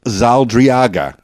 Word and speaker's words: Zaldarriaga: And we're going to learn about Michael Zaldarriaga.